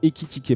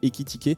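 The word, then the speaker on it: Ekitike: Équitiquer, pardon, désolé, j'ai mal prononcé son prénom, enfin son nom de famille. D'ailleurs, qui se prononce dans les deux sens, ça se prononce pareil, Équitiqué.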